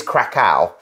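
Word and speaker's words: Kraków: is another debate so I think the English way of pronouncing it is Krakow however I would say krakov but actually krakov has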